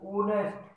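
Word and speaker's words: honest: क्या है, दूसरी हमारी एक होता है साइलेंट, ठीक है, कोई भी साउंड नहीं होती, नो साउंड, जैसे होनेस्ट, ओ ओनेस्ट है, होटल, होटल, हाउस।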